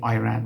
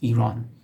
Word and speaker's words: Iran: Some folks say, from peculiar countries, they say Iran, which is not correct. It's Iran.